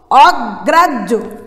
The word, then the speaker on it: অগ্রাহ্য: হয় জফলা থাকলে প্রথমে জ তারপরে ঝ উচ্চারণ হয়। তাহলে হয় যখন জফলা আছে প্রথমে আমরা কি অগ্রাজ জ উচ্চারণ করব, অগ্রাজ ঝ। আমরা ভুলে এটাকে অনেক রকম উচ্চারণ করি, অগ্রাহ্য অনেক কিছু বলে থাকি, কিন্তু বাংলা উচ্চারণের যে সঠিক নিয়ম সে নিয়ম অনুসারে আমরা এটাকে কি বলবো, অগ্রাহ্য।